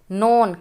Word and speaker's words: known: नोन KNOWN नोन, तो ये silent word है।